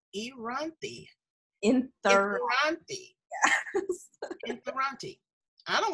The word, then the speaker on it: Inthirani: It's three syllables. Inthirani.